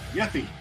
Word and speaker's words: Yessi: this tiny picture, but Yessi on here, Y-E-S-S-I, I have a student who has a name very similar, but it's pronounced like Mike Tyson would pronounce Yessi. So Yessi? Yethi.